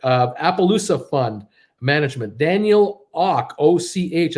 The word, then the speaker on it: Och: appaloosa fund management daniel och och i think it's like pronounced at awk ziff capital managing 40 billion